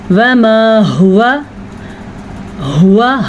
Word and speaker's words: هو: واو کو قطعاً لمبا نہیں کرنا. عام طور پہ لوگ اس کو پڑھتے ہوئے ہوا پڑھ لیتے ہیں تو یہ غلط ہے.